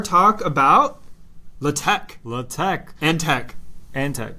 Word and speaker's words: TeX: spelling pronunciation so it's because Tau Epsilon Chi right which are Greek letters is what tech is spelled as and they're kind